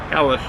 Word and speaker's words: Helles: It's a HELLES lager, that's how they pronounce it, the H-E-L-L-E, HELLES.